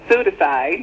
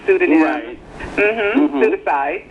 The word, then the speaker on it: pseudocide: that right right no pseudocide NOP the p is silent like in pneumonia and pseud pseudocide um Michael Jackson fake